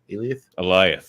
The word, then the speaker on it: Alioth: So Johnny mentions when they're traveling to this place that Alioth, how do you pronounce it? Eliath.